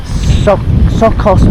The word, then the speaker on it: Tsokkos: So Sos paradise village. if you don't pronounce the T apparently.